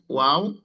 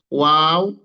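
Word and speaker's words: واو: আর ওয়াও এর জায়গাটা হচ্ছে, ওয়াওটা হচ্ছে আপনার যে মুখের ফাঁকা জায়গা, সেই মুখের ফাঁকা জায়গা থেকে ওয়াও, ওয়াও উচ্চারণ হবে। ঠোঁটটা একেবারে আপনার কি হবে না, একেবারে ঠোঁটটা মিলে যাবে না, ঠোঁটের এই দুই পাশে মাঝখানে একটু ফাঁকা থাকবে।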